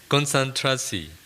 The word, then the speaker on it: konsentrasi: Konsentrasi. Is my pronunciation right? No. Konsentrasi.